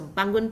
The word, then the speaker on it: bangun: So if you can see here, B-A-N, bang, we pronounce as bang, and then G-U-N, we pronounce as gun. So bangun pagi.